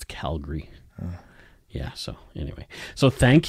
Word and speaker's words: Calgary: No, it's Calgary.